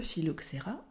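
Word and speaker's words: phylloxéra: c'est le mot philoxera alors attention on dit bien le philoxerra ce mot vient du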